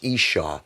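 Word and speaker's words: ishah: singular in Strong's lexicon the original Hebrew word used for women is pronounced Isha and is noted as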